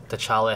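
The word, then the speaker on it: T'Challa: I mean you could take a black panther tala head that's how you say it and use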